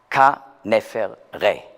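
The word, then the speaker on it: Khaneferre: Et son mari était le pharaon Khénéfrès. Alors, ou Khénéfrès. Alors là, vous devez aussi obtenir l'original égyptien de cette prononciation grecque, et c'est Ka-Nefer-Ré, ce qui veut dire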